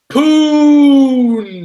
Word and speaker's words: Poona: Poon. That's right. Poona Ford, 89.6 rating by Pro Football Focus.